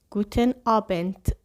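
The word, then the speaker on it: Guten Abend: گوتن آبن گوتن آبن د در آخر این کلمه بچه‌ها ت تلفظ میشه گوتن آنت ولی یک ت خیلی خفیف قشنگ آنت نگین گوتن آبن شب بخیر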